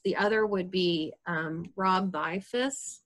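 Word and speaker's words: Bielfuss: Rob Bifus, and it's like B as in boy, I-E-L, there's a silent L in it, F-U-S-S.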